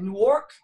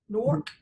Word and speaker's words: Newark: So I went to, I'm going to make sure I'm saying it, Newark, New Jersey, Newark.